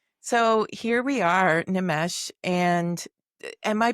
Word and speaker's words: Nimesh: So, here we are, Nomesh. And am I pronouncing your name correctly?